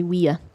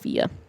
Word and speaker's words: via: latin and you say we are i'm sorry yeah you say we yeah we are what so in latin the word for road is via but it's pronounced wea instead of via is that why it's